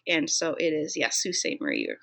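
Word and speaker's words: Sault Ste. Marie: so it is yes Sault Ste Marie you are correct Natsu salt Murray Sault Ste Marie is how you say it with a French accent um this book deals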